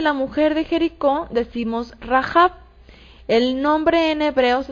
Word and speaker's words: Rahab: así reid hey ivette ok rap que se pronuncia así rajab con la letra g y la de en